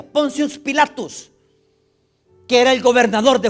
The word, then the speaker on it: Pontius Pilatus: En latín así se pronuncia, Pontius Pilatus, que era el gobernador de Judea impuesto por César Tiberio.